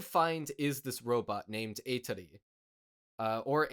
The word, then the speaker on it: Atri: What they instead find is this robot named Atri, or Atri, but the Japanese pronunciation is Atri.